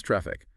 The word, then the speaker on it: Traefik: pronounced engine X and traffic pronounce traffic right so whether you're